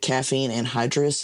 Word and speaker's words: caffeine anhydrous: If you've never read the ingredients on Oh, it, it'll say, oh, 300 milligrams from what is it, caffeine anhydrous?